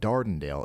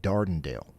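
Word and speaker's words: Dardanelle: Okay, so y'all just pronounced all of that wrong. It's not Sidelia. It's more like Sidelia. And it's not Dondale. It's a little bit more like Dardenale.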